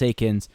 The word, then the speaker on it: Eakins: It's not Eakins. I know. Just was second guessing myself for a hot second. Just ignore the E. Just pretend it's just an A.